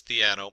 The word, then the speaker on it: Theano: in there and looked it up it is theano there's a lot of pronunciations theno and different things uh so theano uh it's